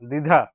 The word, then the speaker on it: দ্বিধা: রসিকার ধ আকার দিধা দ্বিধা দ্বিধা দ্বিধা ধ বফলা রসিকার ঢকার দিধা দ্বিধা এটি উচ্চারণ করবেন এভাবে দো ধো আকার দ্বিধা দ্বিধা এখানে বফলা উচ্চারণ হবে না বন্ধুরা দ্বিধা দ্বিধা দ্বিধা উচ্চারণ হবে দ্বিধা এটি বন্ধুরা আমরা প্রথমে